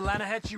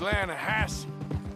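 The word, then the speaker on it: Lannahechee: rode down to the Lana Hetchy River I caught some beautiful steelhead trout you maintenance it runs right near here yeah but it's pronounced Lana Hass why is everything in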